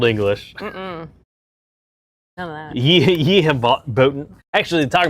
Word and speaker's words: ye: The Y is a thorn. It was a printing press, like shorthand TH. So it's not an actual Y. It's called a thorn. And they would just do that real quick. And it was to stand in for the TH.